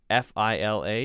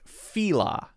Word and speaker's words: Fila: balance balance and then f-i-l-a is fila i've heard fila and fila i've always said it